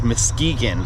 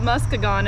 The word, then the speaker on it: Muskegon: Our goal today is to reach Muskegon, which is about 30 minutes down the road from where Electric Forest is. That's how you pronounce it? Yes. I've been pronouncing it Muskegon in my head.